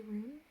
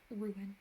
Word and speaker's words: ruin: data i say data ruin i guess some people say roon like are you any room but i would say ruin like two circles ruin this one's one